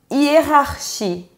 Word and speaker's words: hiérarchie: Alors, c'est un H aspiré. Donc, on dit... La hiérarchie. C'est ça. Je ne savais pas. Il n'y a pas d'élision, il n'y a pas d'apostrophe.